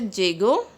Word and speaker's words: llego: Double L is pronounced as J in Spanish, so it is pronounced as llego.